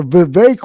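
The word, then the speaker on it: Vivek: those six invertebrates are VI rymes with cake ramaswami Uncle Tim Scott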